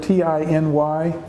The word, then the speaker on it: tiny: wanted run bring our attention to because its pronunciation is the word T iny which means which means really small we pronounce